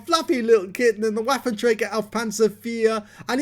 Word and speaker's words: Waffenträger: so-called waffle Panzer for it's a waffenträger not a waffle well yes it is buff and Traeger means weapons carrier and at least I believe that's the correct pronunciation for it he actually got a